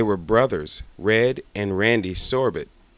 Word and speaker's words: Sorbet: They were brothers, Red and Randy Sorbet. The Sorbets pronounced their names like sorbet.